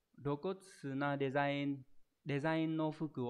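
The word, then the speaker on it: 露骨: Đây là chữ lộ ghép với chữ cốt, đọc là rokotsu.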